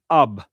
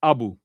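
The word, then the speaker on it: أب: And that's the word ab or abu. Ab or abu. Different ways to pronounce it.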